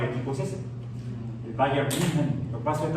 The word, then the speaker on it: München: Porque la U se usa como I, la U con diéresis, I, y la H suena como J. Entonces, München, como una J aplastada.